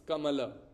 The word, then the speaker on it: kamala: In Sanskrit, it's kamala.